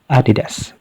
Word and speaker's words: Adidas: But this time, we'll follow the correct pronunciation, which is Adidas.